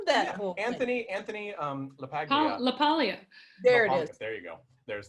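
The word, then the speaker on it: LaPaglia: funny I love that Anthony Anthony um leag laalia there there you go there's the correct pronunciation I love I love him he's fantastic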